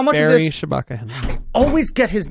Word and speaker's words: Shabaka Henley: But it's the same thing as the Baba Shaka Henley thing, where it's like, how much Barry of this... Shabaka Henley.